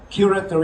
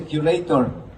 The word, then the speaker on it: curator: a uh curator, okay, let me correct our Filipinos uh wrong pronunciation of the word curator is a curator. Anyway, looking back, looking at the uh the dictionary, the accent is on the first syllable.